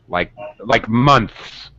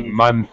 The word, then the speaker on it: months: We usually drop the middle sound, like months. We don't usually say months. It's too many sounds.